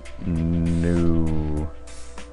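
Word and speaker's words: nous: It's pretty straightforward and simple pronunciation. It's just new.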